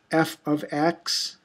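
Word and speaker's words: f(x): equations of functions um this is would be pronounced f ofx f ofx um it's a a function and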